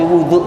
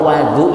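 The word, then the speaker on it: وضوء: Faataituhu biwui ini bacanya jangan sampai wudu ya. Kalau wadu itu alat untuk wudu berarti air. Kalau wudu itu perbuatannya ya.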